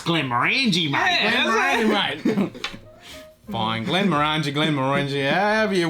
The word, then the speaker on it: Glenmorangie: There is an I in there, and it's just orange on the end, so it could be Glenmorangie.